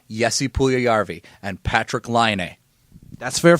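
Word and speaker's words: Puljujärvi: get I'll get it I go by how guys like Bob Mackenzie Darren Drager and Gordon Miller in the World Junior Championships say it and Gordon Miller and Bob McKenzie always said yesi puul yarvi and Patrick lion that's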